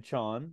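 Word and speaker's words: Chaon: was chosen by Dan Chone John John I just saw on his Twitter that he tells us how to pronounce it Dan Chan to be included in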